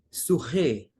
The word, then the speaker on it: Sicar: E porque a pronúncia Sicar seria Surré, e Siquém é Surrem, expressões bem parecidas.